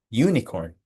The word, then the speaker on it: unicorn: We spell unicorn with U, but it sounds like a consonant. Y O U, you, unicorn. So, we say a unicorn.